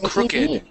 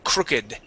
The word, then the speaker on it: crooked: But with this word here, crook, okay, this is crooked, all right, crooked, okay. Even with the ED ending on the end, crooked, okay? So that's how we pronounce this word, crooked.